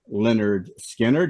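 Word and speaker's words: Lynyrd Skynyrd: band of all time Leonard skinnard they hold the number 11 seed with pronounced Leonard Skinner doc you must really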